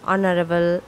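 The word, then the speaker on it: honorable: আবার honest hour অনারেবল এই শব্দগুলো বানানে প্রথম এইচ থাকলেও সেগুলো উচ্চারণ হ না হয়ে স্রবর্ণ দিয়ে শুরু হচ্ছে যেমন আওয়ার অনেস্ট অনারেবল ইত্যাদি।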